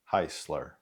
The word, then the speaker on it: Hisler: To help you out, it's pronounced Heisler.